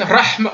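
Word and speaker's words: رحمة: Mais le ha il est pas assez prononcé. Rahma. On l'entend pas.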